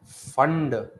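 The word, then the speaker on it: Pfund: Lyman Balmer question bracket फंड P silent है बेटा है ना फंड और हम फेरी हम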